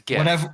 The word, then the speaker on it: GIF: All right, GIF or GIF? It's GIF. Whatever I've heard last. I say GIF. Because this is my logic. Giraffe is a soft Jeff. It is a soft Jeff. Is a soft G. So I feel like GIF should also be a soft G.